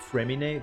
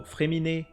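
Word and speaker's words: Fréminet: fossil or um so fremini there's an accent on the E and we don't pronounce the T at the end the t is silent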